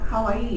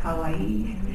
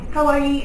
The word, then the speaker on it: kawaii: take the concept of kawaii and how many here have heard of the word kawaii good and it's not PR it's not pronounced Kawai but Kawaii um Kawaii and how how would